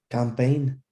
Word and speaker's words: campaign: the g yes it is how would you pronounce it campaign excellent excellent excellent number eight which one is